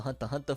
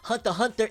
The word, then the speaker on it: Hunter x Hunter: when it comes to Hunter x Hunter fandom. If it's with an H and an X that is silent and another H, we'll take it, because we ain't getting squat, fam.